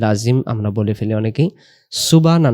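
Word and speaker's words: سبحان: আমরা বলে ফেলি অনেকেই সুবানা উচ্চারণ সুব সুব এমন কলকলা হবে সুব এরপরে হা যাব সুবহানা সুবহানা সুবহানা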